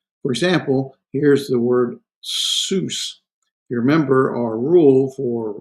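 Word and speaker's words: סוס: It has two consonants with one vowel in the middle. Okay, so one, two, and a shurik in the middle. So this would be pronounced sus, and it means, of course, horse.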